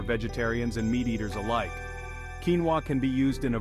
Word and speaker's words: quinoa: look no further than quinoa this ancient grain pronounced quinoa has become a modern-day superfood for good reason